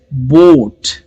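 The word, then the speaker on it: boat: का वर्ड है बोट लेकिन इसमें बी को हम प्रोनाउंस कर रहे हैं ओ ए इसमें सिर्फ ओ को प्रोनाउंस कर रहे हैं लेटर नेम कह रहे हैं लेकिन ए को प्रोनाउंस नहीं कर रहे ए सिर्फ लिखा जाएगा और इसके बाद आएगा टी तो यहां पर लेटर्स चार है लेकिन साउंड इस वर्ड में सिर्फ तीन है बोट ओके वैसे ही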